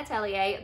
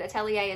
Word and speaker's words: Atelier: pronounced it correctly, and I believe Atelier is the correct pronunciation according to Google at least, but you may have heard it also as Witch Hat Atelier.